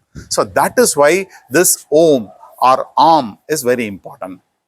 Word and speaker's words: Om: So that is why this Om or Om is very important. The perfect way to chant Om or Om is by Om only.